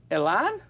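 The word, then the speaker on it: Alain: uh let's do an S Jason okay uh Elan am I pronouncing correct alen it's Allen it's just Allen yeah but is it it's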